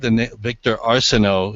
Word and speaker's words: Victor Arsenault: He returns to the saddle today for, I believe, Victor Arsenault is the way it's pronounced, and he's 8-1 on the morning line.